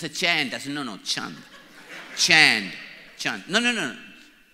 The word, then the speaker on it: Chand: my name is not chained my name is Chung Chung like that's the pronunciation of my name chant so I came to